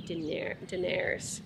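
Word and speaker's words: dinar: so I tipped 1,000 din daer it's like dinner I learned how to say it properly da daer which is like maybe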